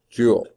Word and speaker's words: Joule: foot-pounds flip-outs okay okay the name of it is Jo you Ellie don't spell it like it a jewel like this it's the Jo ul named after James Prescott Joule okay yeah